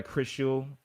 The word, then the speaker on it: Krishool: But no, my name is Krishna, but I go by Krishool. Just call me Krishool.